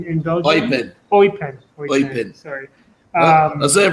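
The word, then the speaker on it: Eupen: Plays for UPenn in Belgium. Oipen. Sorry. So you pronounce it T? Yeah. Oipen.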